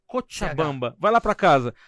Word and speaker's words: Cochabamba: A pronúncia é Cochabamba.